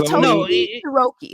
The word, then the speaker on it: Totoki Hiroki: It's Totoki Hiroki.